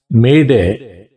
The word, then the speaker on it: Mayday: Instead of SOS bar, we have to pronounce Mayday, as in French expression Mayder 3 times.